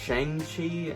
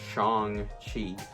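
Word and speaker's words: Shang-Chi: i wonder why i keep wanting to say shang chi i guess because everybody thought that that's how it was uh kind of said or whatever but anyways it's actually pronounced chong chi but anyways and he goes by uh sean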